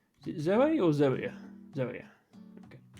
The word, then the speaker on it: zoea: Zoea.